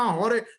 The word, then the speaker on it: हरे: नहीं हो केहू क्यों ऐसा उच्चारण करते हैं वह रे रामा हरे कृष्णा होरे होरे होरे कुछ नहीं होता हरे ही होता है हरे हरे यह सब